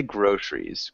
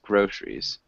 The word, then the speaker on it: groceries: small thing with groceries we don't really pronounce the grocer we just say groceries groceries okay grous yeah um